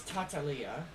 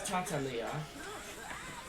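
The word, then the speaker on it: Tartaglia: I did hear that the actual way you pronounce his name is Tatalia.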